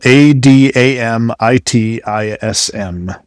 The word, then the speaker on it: adamitism: And it's spelled a d a m i t i s m.